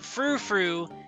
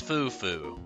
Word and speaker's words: fufu: life was a lie it's not frou-frou it's fufu and it's spelled not the way i had spelled it so i was close i technically had the spelling wrong but it is fufu not frou-frou also shout outs to